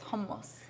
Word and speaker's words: hummus: that no it's not hummus it's not hummus it's hummus yeah if we're going to say it in arabic it's homos anthony looks very tall